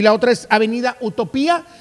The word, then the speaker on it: Utopía: estar con nosotros Avenida utopía con acento en la y porque es pasado participio